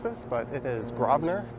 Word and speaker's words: Grosvenor: And this street here, some will disagree with how I pronounce this, but it is Grosvenor, spelled Grsvenor Street.